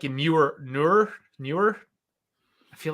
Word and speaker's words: Neuer: I'm trying to say newer I just feel like I'm saying his name wrong how old is newer it was like 30. that's how you say it Neuer 36 37 isn't he